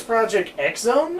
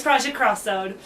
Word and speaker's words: Project X Zone: I think it was Project X Zone. I think it was. No, Project X is pronounced cross. Okay. Yeah, I learned that. So it'd be Cross Zone then. Yeah, it's Project Cross Zone.